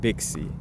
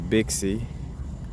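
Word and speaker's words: 赑屃: So Bixie, Pinyin, Bixie, a Bishi, because XI is like chi in essence when you pronounce it with from the Japanese or Chinese way of expressing it.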